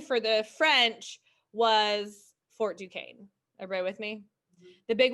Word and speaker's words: Duquesne: was fort duquesne um that is uh not duquesne it looks like duke esme right it's a french word i don't know what it means but um but you pronounce it fort duquesne um so the british